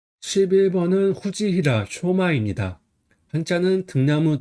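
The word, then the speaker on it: 藤平尚真: 11번은 후지히라 쇼마입니다. 한자는 등나무 등, 평평할 평, 오히려 상, 참지입니다. 등나무 등은 후지라고 읽어요.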